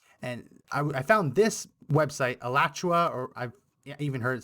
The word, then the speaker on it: Alachua: And I found this website, Alachua, or I've even heard it sometimes pronounced Alachua Chronicle, a local news website in Florida, I believe around Gainesville.